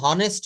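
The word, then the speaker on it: honest: হি ইজ আমরা বলি না হি ইজ অ্যান অনেস্ট ম্যান এটা বলি অনেস্ট এটা আমরা কি বলি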